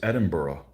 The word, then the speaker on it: Edinburgh: common everywhere you know it's not Edinburg it's Edinburgh why where's the o a